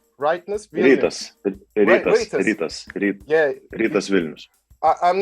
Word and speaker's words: Rytas Vilnius: Now, your Rytas Vilnius is I pronounce right? Rytas Vilnius.